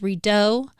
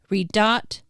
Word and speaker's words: Redot: this response really quick Dr T says so is it pronounced redo redot red redot or Red Dot and uh redo responds all of them and it's awesome I